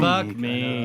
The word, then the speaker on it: Buck Meek: I mean, I always want to say Joe Meek. Buck Meek.